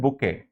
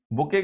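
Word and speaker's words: bouquet: तो उसको कहते हैं बुके। बुके की स्पेलिंग होती है ये बी ओ यू क्यू यू ई टी।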